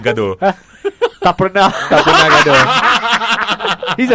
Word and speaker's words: Gadot: No T. Gadot. As in Gado.